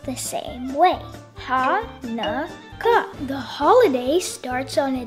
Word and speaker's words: Hanukkah: You can see different spellings, but no matter how it is spelled, it is always pronounced the same way. Hanukkah.